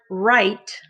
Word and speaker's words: write: look at the word write we have w r and it makes the r sound that means the w is silent good job number two